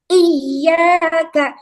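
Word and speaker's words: إِيَّاكَ: K itu ada ya bertasydid. Jangan dibaca tidak ditekan ya. Harus ditekan bacanya iyaka.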